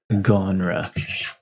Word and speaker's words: genre: Spelled with a G. Yeah. Good job. Gonra.